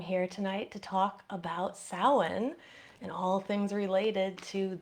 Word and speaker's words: Samhain: actually is pronounced as the M and the H in Gaelic is pronounced as a W, so this is actually more Samhain, something like that.